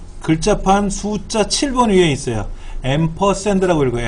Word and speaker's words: 앰퍼샌드: 앰퍼샌드라고 읽어요. 앰퍼샌드.